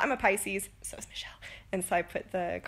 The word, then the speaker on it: Michelle: Your name is 3 syllables, you've said. Michelle.